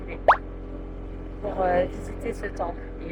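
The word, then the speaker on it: Philae: sur l'île de filet filet ou filet je pense que ça se prononce filé pour visiter ce temple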